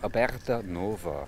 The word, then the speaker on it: Aberta Nova: any further can you tell me the correct pronunciation of your company's name yeah the company name is called about Nova Herbert Nova yes new opening new opening that's